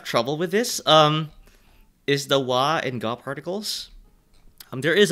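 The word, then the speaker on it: は: So, basically, this is, this basically, this wa particle, by the way, like, this is ha, but if you are using it as such, as a topic particle, the pronunciation becomes wa instead.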